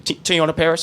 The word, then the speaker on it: Teyonah Parris: Thank you, Teyonah Parris.